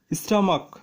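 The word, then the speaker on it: stomach: যেমন বেঞ্চ মানে টুল, স্টামাক মানে পাকস্থলী, এখানে সিএস এর উচ্চারণ চ এর মতো হয়েছে এবং স্টমাকে সিএস উচ্চারণ ক এর মতো হয়েছে।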